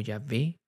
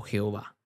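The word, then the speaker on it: Yahvé: y H p h no tiene vocales Así que cuando Tratamos de pronunciarlo suena como ya ve o Jehová Este es el nombre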